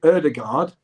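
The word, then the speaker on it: Ødegaard: situation last week with martin erdegaard who played at the weekend against villa he said on his little video my name is martin erdegard but in england i don't mind if you call me oh god i always try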